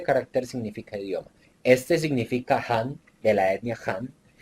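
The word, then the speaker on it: 汉: pueden ver arriba y cuál es su transliteración a las letras del alfabeto que manejamos h a n y una tilde hacia abajo que lo llamamos tono 4 que después lo veremos Jan Esta es la etnia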